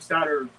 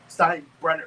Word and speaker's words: Steinbrenner: The George M. Steiner or I said it wrong. George M. No. George M. Steinbrenner Field.